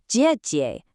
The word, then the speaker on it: 姐: It's a sharp sound made with the tip of your tongue right behind your teeth, like the J in Jeep. It's jie, not a soft zh sound, like in the word leisure.